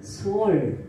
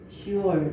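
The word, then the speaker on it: שאול: 그럼 히브리어로 음부는 뭐라고 되어 있냐면은 소울, 이렇게 시올, 소울 이렇게 발음을 합니다.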